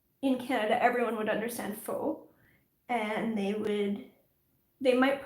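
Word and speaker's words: faux: understand it anyway um i've heard americans say fox which is hilarious like no it's not fox it's not um the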